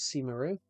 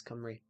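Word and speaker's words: Cymru: I I always thought it was Simaru, but that's how it's spelled. It's Camry.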